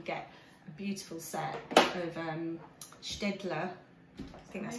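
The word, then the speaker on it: Staedtler: You get a beautiful set of Städtler. I think that's how you say it. Yeah, Städtler.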